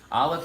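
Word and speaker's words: א: Aleph, it's a silent letter. Makes the sound like whatever value you put with it.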